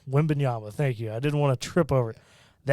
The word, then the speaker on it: Wembanyama: Wembanyama, thank you.